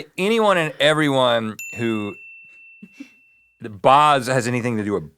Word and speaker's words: Bosch: Bos. Bosch. Bosch. Uh I'm sorry to Chris. Chris Bosk. Who? Bosch who is a NBA player. Any if you I'm sorry to anyone and everyone who Bos has anything to do with Bos at all.